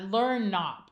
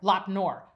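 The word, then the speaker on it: Lop Nur: And at at uh, Learn Knop, I think. I'm not good with Chinese pronunciation. Yeah. Lapnor. Lopnor.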